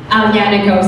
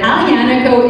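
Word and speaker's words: Aglianico: they have there, but Alianico is one of our favorite. Well, it's spelled with a G, but you don't pronounce the G.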